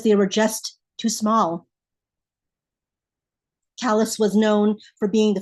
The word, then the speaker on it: Calais: but I was from Calais, Maine, spelled like Calais, France, said like the rough patches on the mill workers' hands.